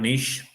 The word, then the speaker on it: niche: our game it is quite niche or niche whatever pronunciation you want to use both are accepted it is uh quite